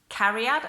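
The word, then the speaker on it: cariad: book as well if you've not read it carry out okay so see a are IAD is pronounced carry out and that's actually quite easy and then the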